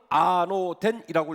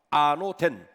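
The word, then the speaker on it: ἄνωθεν: 오늘 본문에 한국말로 번역되어진 거듭남이라는 단어, 헬라어로는 아노덴이라고 읽습니다. 아노덴, 이거 부사인데요.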